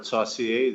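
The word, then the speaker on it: Saucier: My name is Sashier. That's spelled S A U C I E R.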